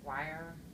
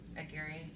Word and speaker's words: Aguirre: I Want It That Way by Anne I always say her last name wrong. Anne Wire. Aguirre.